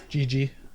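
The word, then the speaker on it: Jiji: Gigi. Yeah. It's J-I-J-I is how you spell it.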